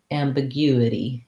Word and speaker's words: ambiguity: have to go slowly you you big you ambiguity ambiguity that's where our stress is so you have time